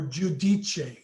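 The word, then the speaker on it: Giudice: bunch of books for theresa judice wow or judicia as she pronounces it now yeah somebody told her that she was mispronouncing her own name um you know what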